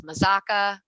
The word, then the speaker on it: Mazzocca: So anyway, yes, tons of mispronunciations, but once you learn it, it's Mazzocca.